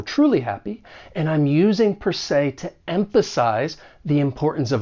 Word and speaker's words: per se: that second word say even though it's spelled s-e you're going to pronounce it with that long a sound say per se and then we have